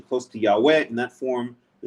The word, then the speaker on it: Yahweh: biblical scholarship is that the original pronunciation of the name yud wah that God goes on to use in verse 15 was Yahweh there are several good